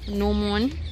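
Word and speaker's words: gnomon: और ये इसके नोमोन जिसमें जी साइलेंट है, साथ ही साथ इसके जो क्वाड्रेंट्स हैं और जो एजेस हैं।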